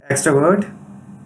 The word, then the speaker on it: extrovert: Extrovert, a noun, it means an extrovert. And its pronunciation is stressed on X syllable, and here's a usage.